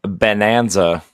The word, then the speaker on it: Bananza: Donkey Kong uh Bonanza spelled like banana, not like bonanza.